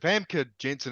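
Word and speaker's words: Famke Janssen: Even though is it Famke Jensen? Is that how you pronounce her name?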